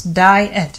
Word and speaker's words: diet: And the second one is a closed syllable, meaning it ends in a consonant, it's et, with a short e sound. Because open syllables have long vowel sounds, closed syllables have short vowel sounds. Diet, diet.